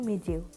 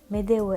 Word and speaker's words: Medeu: Dit-on Medeu ou Mediu? En fait, les deux noms sont utilisés. Medeu est la version russe et Mediu la kazakh.